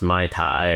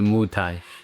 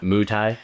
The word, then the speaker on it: Muay Thai: kidney and elbow and it's not pronounced my Thai or it's not a trick, right? cuz I was like I mean that that joke less and less. Yeah. Right. But the Muai Yeah.